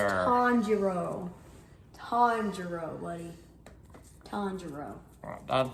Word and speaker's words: Tanjiro: a uh terror from from demons no it's tonjiro tonjiro buddy tonjiro that's not how i spell that well that's how it's spelled today commodore